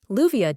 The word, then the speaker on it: Leuviah: Leuviah doesn't just restore your mind.